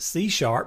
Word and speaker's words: C#: Now, you'll obviously have already noticed that this is pronounced C#. The sharp portion of this comes from the musical notation for a tone that is 1/2 step up from a standard C note.